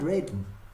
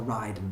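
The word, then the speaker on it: Raiden: here i didn't mind reading to be honest or riding however you want to pronounce it it's pronounced from ride and i'm pretty sure but um i didn't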